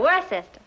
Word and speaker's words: Worcester: But it's spelled W-O-R-C-E-S-T-E-R. Worcester.